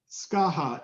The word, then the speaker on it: Skaha: the how do you say that one s-c-a-h-a skaha is 90 wool 10 nylon and it's also